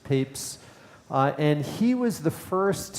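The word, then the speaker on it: Papez: is this scientist named James peeps it's pronounced Papes and he was the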